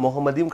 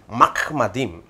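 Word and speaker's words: מחמדים: பாருங்கள், கிடையாது விக்குல்லோ முகமதிம் என்று சொன்னார், முகமதிம் கிடையாது மஹ்மதிம்.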